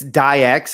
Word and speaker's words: DIYECS: yeah it stands for it's dye X is is how I pronounce it but it's it stands